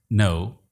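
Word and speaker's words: know: इन तीन अल्फाज को गौर से देखिए, थम, नो, राइट। थम में बी, नो में खे और राइट में जी साइलेंट है।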